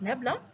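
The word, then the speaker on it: nabla: Here this delta, that is inverted triangle which we are having, that is pronounced as nebula, and this delta is given by I car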